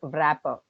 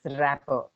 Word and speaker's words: wrapper: It's not wrapper, it's rapper. W pronounce cheyakudandi. Actually, the word W is there in the sense we will think that we'll pronounce it as wow rapper. It's rapper. W must be silent.